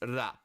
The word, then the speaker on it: ら: So this is pronounced ra, ra, ra, ra, ra, ra, ra, like it's like just R-A, ra.